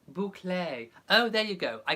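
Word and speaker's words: bouclé: Robert Reaves says the fabric is called buco pronounced boucle oh there you go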